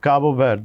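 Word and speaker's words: Cabo Verde: কিভাবে বলুক অসুবিধা নেই তুমি একটু ওই উচ্চারণটা শেখার চেষ্টা করো। কারণ ওটার মধ্যে একটা কারণ কাবো মানে কেপ আর ভারদ হলো সবুজ। তো কাবো ভার।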